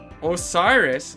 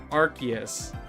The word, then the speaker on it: Arceus: Osiris? Who's saying Osiris? Osiris? Arceus. Is it Arceus? Okay, I'll try to pronounce it that way then. Arceus.